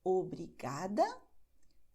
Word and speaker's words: obrigada: as, es, os, em, nós acentuamos a penúltima sílaba. Então, como eu digo, não importa a extensão da palavra. Se a terminação é essa, você acentua não a última sílaba, mas a anterior. Por isso, nós diremos obrigada, tarde, obrigado.